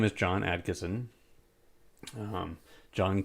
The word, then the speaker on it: Adkison: There aren't a whole lot of John Adkissons, and my last name is spelled Adkison. It's Adkisson, not Adkinson.